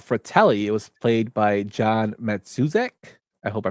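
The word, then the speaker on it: John Matuszak: It was played by John Matsuzek. I hope I pronounced his name correctly.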